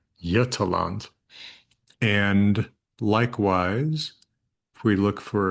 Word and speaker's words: Götaland: So this is Götaland, not Götaland, Götaland.